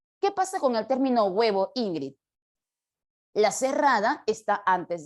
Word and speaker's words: huevo: de pronunciar la palabra nadie dice uevo décimo No y esa u sonaría más que todo como una gue no no suena como una u estrictamente entonces ejemplos Como esos